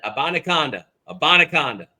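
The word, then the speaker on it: Abanikanda: unbelievable um yeah and abona abaca that is how you say it we will have it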